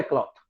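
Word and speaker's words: cloth: Uniform बनवानी, वो है क्लॉथ। और जो सिल जाता है उसको बोलते हैं क्लोथ। सो डिफरेंस प्रोनाउंसिएशन में है क्लॉथ एंड क्लोथ, और बस ये डिफरेंस है।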